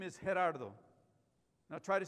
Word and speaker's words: Gerardo: probably botch it because you can't say that H, the G is an H in Spanish, and you can't roll your R's, Gerardo. So there are a lot of people call me Geraldo.